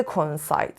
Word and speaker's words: coincide: حالا این از خود coincide so coincide two vowels two different sounds O-N and the stress is on the third syllable حالا have you ever